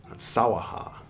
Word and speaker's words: Svaha: Sawaha is how they pronounce it in medieval Japanese, but here they're going